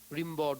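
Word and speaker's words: Rimbaud: বিখ্যাত ভাবে র্যাম্বো বলছে, হোয়াট ইজ মডার্নিজম? র্যাম্বোকে জিজ্ঞেস করা হচ্ছে, রিম্বড উচ্চারণটা, ফ্রেঞ্চ পেইন্টার, তিনি বলছেন হোয়াট ইজ মডার্নিজম?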